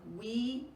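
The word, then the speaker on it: Oui: Now these are WE yogurt jars. It's spelled O-U-I, they're glass.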